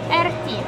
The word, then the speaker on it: Erti: Erti. Erti. It's more, you have to, you know, highlight the letter T. R. Yes. T, yeah. The R and the T are well pronounced.